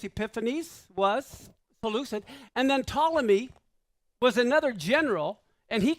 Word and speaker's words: Ptolemy: And then Ptolemy was another general, and he controlled Egypt.